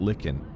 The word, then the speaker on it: lichen: The walls are damp, slick, and coated with phosphorant lichen. Lichen is how you say that word.